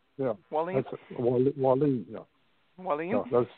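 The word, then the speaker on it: Wallen: Wallin?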